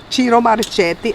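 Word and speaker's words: Ciro Marchetti: So, I like chiro maretti. A lot of people say it wrong, but I looked it up. It's Italian. Chiro Maretti.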